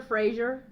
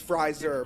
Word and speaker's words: Fryer: Everyone says my last name my last name wrong too. So I I relate. Frazzier. Frasier. It's Fryer. Everyone says everyone says Frasier.